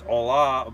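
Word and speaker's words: olá: If you're trying to say it in Portuguese, that's not how you say it in Portuguese. It's hola, but it's not spelled like that. In Portuguese, it's just O-L-A, not with an H.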